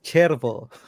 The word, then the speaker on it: Cervo: It's not Servo Volante. Don't tell people Servo. It's Cervo. Cervo.